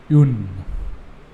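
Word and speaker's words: une: it as uh for indefinite articles feminine it's Yoon so this is about the singular ah and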